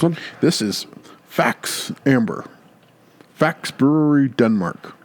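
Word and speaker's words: Faxe: amber facts brewery Denmark so just pronounced facts I've never gonna pronounce that why I've augs seen it on the shelves but with the e I wasn't sure how to pronounce it facts thought maybe it was the X was silent fake yeah so I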